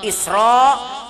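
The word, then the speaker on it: إسراء: Kalau barisnya fathah hukumnya tafkhim, bacanya tebal. Isra tapi karena sudah biasa Isra Mi'raj, jadi bismillahirrahmanirrahim, ibarat begitu jadinya.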